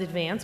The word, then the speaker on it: Advance: Recently the Staten Island Advance, which is the daily paper on Staten Island, which is spelled Advance, but in Staten Island it said Advance.